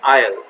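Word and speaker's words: aisle: ये क्वेश्चन भी पूछा जा चुका है एग्जाम में, तो इसे हम कहते हैं आयल, ठीक है, इसका प्रोनाउंसिएशन है आयल, ठीक है।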